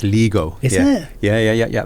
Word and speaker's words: Lego: No, it's Lego. No, it's not. It is. It's called Surely not. No, it's Lego. Isn't it? Yeah. That's how the Danes will actually pronounce it.